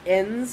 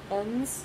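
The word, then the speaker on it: Enns: week they had pete i think it's ends is how you pronounce it i think it's e-e-m-s ends i believe who's a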